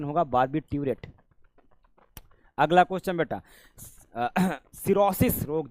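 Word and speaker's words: barbiturate: इसका प्रोनाउंसिएशन होगा बार्बिट्यूरेट।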